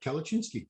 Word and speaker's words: Kalecinski: But yeah, Kalachinsky, I'm going to help everybody out there. You know, kale, that vegetable that nobody likes. yeah, Just kale, and then Cinski. You got it, Kalachinsky.